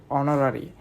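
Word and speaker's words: honorary: তো এর উচ্চারণ হবে অনরোরারি।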